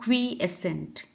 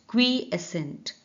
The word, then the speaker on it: quiescent: wide relatively अपेक्षाकृत comparatively, क्विएसेंट इसका pronunciation है क्विएसेंट, क्विएसेंट इसका मतलब है शांत